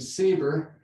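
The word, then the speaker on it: SABR: radiotherapy which is a real mouthful but we pronounce as acronym saver so it's much easier to say and saver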